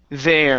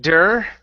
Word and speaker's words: there: mirror okay very good let's go to there instead of dur okay they there they